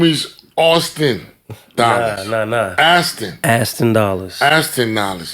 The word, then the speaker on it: Aston Dollars: How you pronounce your name? Aston Dollars.